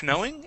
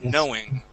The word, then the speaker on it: knowing: The K here is silent. Instead of knowing, it is knowing.